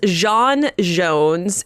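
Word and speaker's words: J'onn J'onzz: Martian Man Hunter yes so his name is Jean Jones and I am pronouncing it like that because that is the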